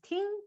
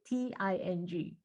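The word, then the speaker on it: 听: In it's pronounced as ting, Ting, with a very light tone, ting.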